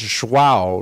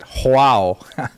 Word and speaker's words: João: It's João, right? Olivia, is that how you say it? João. But I like saying it João, though it's not right.